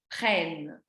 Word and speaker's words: prennent: Le E s'ouvre, on dit nous prenons, vous prenez et ils prennent. Le E s'ouvre parce qu'il y a 2 N.